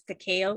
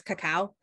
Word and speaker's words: Cacao: pretty white um i technically pronounced my last name incorrectly my parents told me to pronounce it as kakeo even though in the philippines it's cacao um so surprisingly they didn't